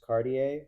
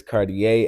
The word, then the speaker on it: Cartier: I'm like, it's Cartier. It's Cartier. I mean, I don't know what the watch is. I think the watch might be pronounced Cartier, but my name is Cartier. But yeah. Hey, so it's that, with the R though at the end.